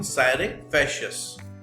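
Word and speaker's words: scire facias: इसकी जो प्रोनाउंसिएशन है वो थोड़ी अलग सी है, जो इसमें लिखा है उसे देखने के मुकाबले, तो ध्यान से देखना। साइरेफेशियस, तो साइरेफेशियस का मतलब होता है योर कॉज टू नो।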